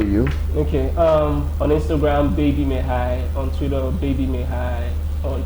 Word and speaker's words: Meghai: On Instagram, Baby MEGHAI. On Twitter, Baby MEGHAI. On Threads, Baby MEGHAI. On TikTok, it's Baby MEGHAI. So Baby MEGHAI, Baby BAEBY, MEGHAI MEGHAI. The G is silent.